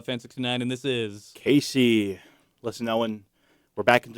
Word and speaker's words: Kazii: It's Kazii.